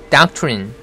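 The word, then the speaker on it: doctrine: 발음은 doctine doctine doc 발음은이라고 하면 되고요. 이래죠. 끝에 있는리는 린이라고 할 필요 없습니다. 른이 정도 하면 됩니다. 그래서 다합쳐서 얘기하면 doctine doctine이 되는 거죠.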